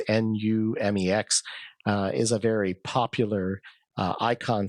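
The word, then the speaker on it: Numix: Numex, I guess that's how you pronounce it. I think it's Numex, is a very popular icon set and button set on any style of Linux.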